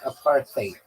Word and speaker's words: apartheid: In American English, it sounds like a part time. In bring British English it sounds like aparthate.